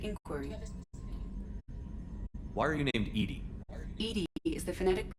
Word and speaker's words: EDI: have a specific inquiry why are you named Ed Ed is the phonetic pronunciation of Ed I that is an acronym